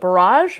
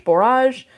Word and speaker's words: borage: a lot about and i think i mispronounced it every time but barrage borage barrage b-o-r-a-g-e this is